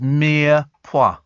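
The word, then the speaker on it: mirepoix: goodness for that there it is and uh pronounced Mia P the aromatic flavor base made of lightly cooking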